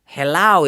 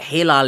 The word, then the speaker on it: Hilal: So it's like Uh and by the way, if you're wondering why I said Hilal and Helal, Helal is like how most people say my name, but Hilal is like the traditional Turkish way to say it.